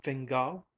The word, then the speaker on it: Fingal: Sylvia asked familiarly CA Fingal said the other looking up from from her cup her upper lip red and moist she accented the surname on the last syllable what a perfectly lovely